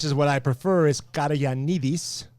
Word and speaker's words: Caragiannides: To help you guys understand how to pronounce my last name, the English version is Caragiannides.